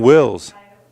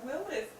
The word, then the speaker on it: Wills: And that will bring up the first baseman, Wills. I thought his name was Willis.